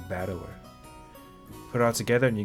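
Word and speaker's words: 戦人: The problem is my given name is made up the character for fight and person and it's pronounced battler.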